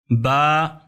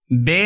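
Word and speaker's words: باء: اس کا تلفظ الف۔ با دو حرکت کے برابر اسے کھینچنا ہے، با بے نہیں پڑھنا۔ اگر آپ بے پڑھیں گے تو یہ عربی تلفظ نہیں ہے، یہ اردو ہے، اردو میں بے ہے، عربی میں با۔ تا تے نہیں ہے،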